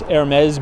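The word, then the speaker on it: Hermès: So Treasury Secretary Janet Yellen, look at this Hermes building here. I finally pronounced it right for you guys.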